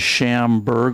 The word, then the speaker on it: Schamberg: pronouncing Chairman Janigian's name, mine is Schamberg, like a ham, an iceberg, and take a drink and you'll say it just right.